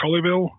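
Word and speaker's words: Colleville: um the american attack i think it's pronounced colliville c-o-l-l-e v-i-l-l-e and um that game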